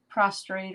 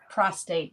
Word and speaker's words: prostate: For your prostrate or whatever. Oh, yeah. Prostate, not prostrate. I always say it wrong.